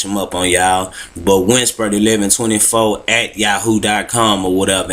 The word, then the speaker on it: Winsbert: so different name, Winsper. Let me spell that for y'all on the Facebook.